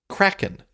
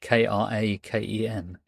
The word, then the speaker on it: Kraken: Number six, Kraken. Not the John Wyndham novel. Is it spelled the same way? K R A K E N. Yes. Oregonians would say Kraken, but it's actually Kraken.